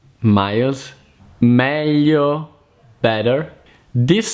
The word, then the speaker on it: meglio: Another hard combination to pronounce in Italian is gli, as in aglio, garlic, miglia, miles, meglio, better.